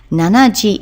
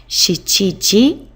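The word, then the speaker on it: 七時: 7 o'clock is shichiji. Shichiji. Again, you're not allowed to use the alternative for number 7, which is nana. Nanaji is not acceptable. Shichiji.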